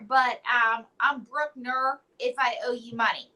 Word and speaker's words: Brucker: to the show and I hope I pronounced your last name correctly it's actually broker but um I'm Brookner if I owe you money so if you're